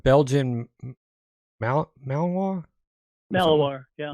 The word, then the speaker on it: Malinois: So, I believe that new animal they received, he's how do you pronounce Belgian Malinois? Malinois, yeah. Malinois.